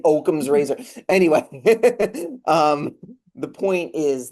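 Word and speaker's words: Occam's razor: I think I finally learned how to pronounce that. You're right. Saying Oakum's razor.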